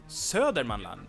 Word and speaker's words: Södermanland: Södermanland Södermanland also has an alternative pronunciation which is Sörmland and that's why Sörmland Yeah, that's the Sörmland. Mm. They skip a lot of letters.